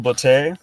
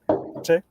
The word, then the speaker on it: Botte: Yeah, so we can get on to some Botte, if I right. Botte? Rhymes with latte, brother.